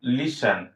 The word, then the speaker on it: listen: এরপর রয়েছে LISTEN, লিসেন। যদিও এখানে টি রয়েছে, টি সাইলেন্ট থাকবে।